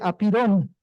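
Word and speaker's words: ἄπειρον: Bueno, le pregunté a Google Translate que me leyera eso en griego y se dice apirón, ¿no? Aunque al parecer se pronunciaba diferente en griego antiguo, pero bueno, ya no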